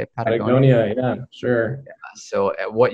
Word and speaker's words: Patagonia: Patagonia, yeah, sure.